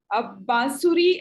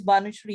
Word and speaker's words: Banusri: Bansuri, you have raised your hand. You want to say Banusri. Sorry, I'm not. Thanks for pronouncing my name correctly. It is Banusri, yes.